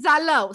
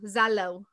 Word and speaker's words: Zalău: In Zalău. So a lot of people, you know. Hold on. How do you spell that? So help our post-production. Z-A-L-A-U. Zalău.